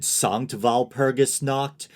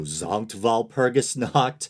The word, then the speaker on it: Sankt Walpurgis Nacht: This is just a little thing, hopefully, but I said Sankt Walpurgis Nacht, when in German I believe the S should be pronounced as a Z, so Sankt Walpurgis Nacht.